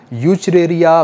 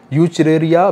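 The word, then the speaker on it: Wuchereria: name है वो है यू चरे या बेन क्रॉफ्ट डब्लू साइलेंट है यू चरे या बेन क्रॉफ्ट ए ए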